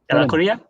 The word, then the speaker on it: Ellacuría: His previous book, Bearing the Weight of Salvation, the soteriology of Ignacio Ellacuría, is that how to pronounce it? Ellacuría?